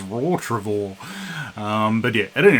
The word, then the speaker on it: Rottrevore: I think um yeah I never realized it's pronounced Ro travor I was calling R tror all these years but it actually says raw travor um but yeah at any rate these guys